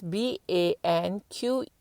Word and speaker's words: banquette: Can I just emphasize banquet is BANQUETTE. It's pronounced as banquet.